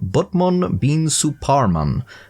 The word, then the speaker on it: Batman bin Suparman: not exactly the same in Japanese the correct pronunciation of his name would be closer to bman Bean suan which I'm sure is still incorrect but it's